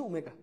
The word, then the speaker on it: ওমেগা: তাহলে আমরা আপাতত দুইটা তথ্য জানবো, ওমেগা কি, তুমি বলো এটা উচ্চারণটা হচ্ছে ওমেগা, ডাব্লিউর মতো দেখলো বাট উচ্চারণটা হচ্ছে ওমেগা, এটা হচ্ছে জটিল সংখ্যার একটি ঘনমূল।